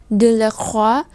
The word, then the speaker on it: Delacroix: Như vậy O-I trong tiếng Pháp thì sẽ giống với lại O-A-oa trong tiếng Việt. Như vậy đây không đọc là noi hay khoi hay choice hay roi hay toi, mà chúng ta đọc là oa.